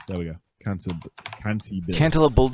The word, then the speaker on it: cantabile: Well, I spell it if you want. Cantabile. There we go. Cantabile.